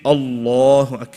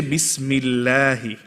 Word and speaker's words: Allah: start after we're saying Allah then we say bismillahi the same word but two different ways of pronouncing right one we're making heavy and one we're making light now we need to